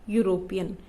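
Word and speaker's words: European: यूरोपियन जो है वो ई से स्टार्ट होता है और ई एक वॉवल है, लेकिन इसको यहाँ पे ई साइलेंट है और ये यूरोपियन बोलते हैं हम इसको, यानी कि ये यू से स्टार्ट हो रहा है, तो इसलिए इसके साथ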